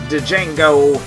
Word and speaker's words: Django: Django, the D is silent even though I just said it, makes the Lollygaggers walk